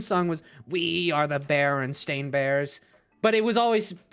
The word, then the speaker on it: Berenstain: it being spelled Berenstein, I always remember it being pronounced Berenstain. I kid you not. I was in a fucking, like, melded universe where it was pronounced Berenstain, but spelled with the EI.